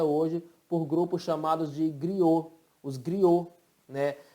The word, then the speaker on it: griots: por grupos chamados de griots, os griots, né? Que em português se fala griot, se escreve griots, tá?